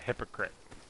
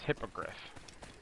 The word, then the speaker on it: hippogriff: the animal the beast's name was uh called hypocrite but it's called It's pronounced hippogriff I was talking to my sister I always